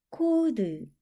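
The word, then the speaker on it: code: 소리 나서 우 도 혼자 소리 나서 드 코드 한 번에 읽으면 코 드 암호 또는 부호라는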